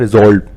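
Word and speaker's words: resolve: ठीक है, कोई पार्टिकुलर डायरेक्शन, कोई एक्शन की हमें करना क्या है उसको डिसाइड करने को बोलते हैं रिजॉल्व। जेड का साउंड आता है रिजॉल्व।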